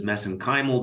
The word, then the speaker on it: mesenchymal: which I pronounce as mesenchymal because that's how they pronounce it in Ireland I know there's other